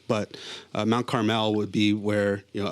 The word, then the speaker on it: Carmel: like Mount Carmel or you know some people pronounce it Carmel but Mount Carmel would be where you know Elijah you know